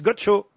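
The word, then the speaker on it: Godchaux: Ah non, mais là, ça s'écrit pas Gaucho. C'est Gaucho comme Gaucho. G-O-D-C-H-A-U-X, Gaucho.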